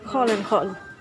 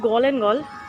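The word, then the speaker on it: Gall & Gall: এটা বিভিন্ন লিকার্সের দোকান, গল অ্যান্ড গল, GALL, বানানটা লক্ষ্য করবেন, GALL এবং GALL, জি, বাট এরা জিকে খ উচ্চারণ করে, খ ফর খাবার দাবার, এরা বলবে খল অ্যান্ড খল।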